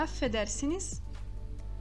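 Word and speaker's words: affedersiniz: 10m 1s 2s né E esses dois é fiz o turco eles devem ser pronunciados então a pronúncia desses dois é fiz vai ficar um pouquinho mais longa para que esses dois F sejam pronunciados a afetar sines e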